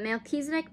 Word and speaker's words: Melchizedek: I think some, maybe not all, but Melchizedek, pronounced Melchizedek, whose name means king of righteousness.